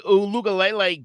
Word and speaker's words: Uiagalelei: Yeah, once DJ Uiagalelei got that offense figured out and down, that's how you're supposed to say it.